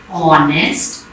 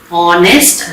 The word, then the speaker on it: honest: Are, honest, air. Now when I am speaking or pronouncing R, I am not pronouncing H sound over here. H is silent over here, okay. I am pronouncing R. Honest, again I am not saying honest.